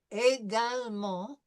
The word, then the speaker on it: également: And once again, we have en, so we know that this is going to be a nasal sound. And because it's a French word, we're probably not going to pronounce that T, right? That's the first thing that we notice as we're looking at this.